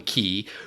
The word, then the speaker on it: Xi: African man named key it's spelled XI but they call him key who has never had